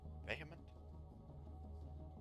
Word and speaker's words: vehement: Vehement? Vehement. I think the H is silent.